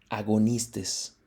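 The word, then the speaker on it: ἀγωνιστής: Esta primera significa, o bueno, su pronunciación es algo así como protos, ¿sale? Y esta de acá, que es agonistes.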